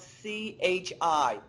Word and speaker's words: chi: Chi-square it's pronounced chi, but it's spelled C-H-I.